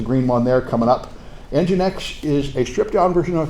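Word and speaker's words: nginx: genetics is the green one they're coming up engine X is a stripped-down version of apache it's spelled strangely um well I'm told all I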